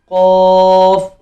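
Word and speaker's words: ق: Okay, next word, which is qaf, qa, qa, qa, qaf। मुंह खोल के qaf, open your mouth properly, then say qaf।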